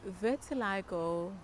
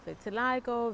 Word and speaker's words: vitiligo: who's wanting to know so vertiligo vitiligo ventilago yeah whichever way you pronounce it depending where you are in the world um is actually a